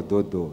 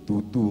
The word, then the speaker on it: Dudu: Sio Dodo, ni Dudu Manengo. Dudu Manengo, Dudu. Yes, Dudu.